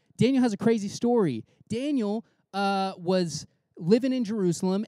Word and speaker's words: Daniel: this guy daniel not like spelled in you'll pronounce danielle but like his name is actually daniel uh